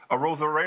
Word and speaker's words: Arozarena: didn't just go ahead and jump on Randy Arozarena. What's it? Did I say it right? Arozarena.